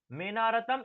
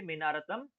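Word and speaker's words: मेऽनारतम्: ने देखा होगा कि यहां पर जो एस जैसा जैसा बना हुआ है एस जैसा यह असलियत में ओ का उच्चारण करता है।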